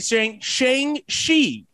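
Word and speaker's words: Shang-Chi: went to go see shang shi it's it it looks like shang chi but that's how the correct pronunciation is so we went to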